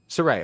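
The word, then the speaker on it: Sarray: Saray, am I pronouncing that right? And Zoe Stark, they've changed her name because it's WWE. It's Saray. Saray, okay.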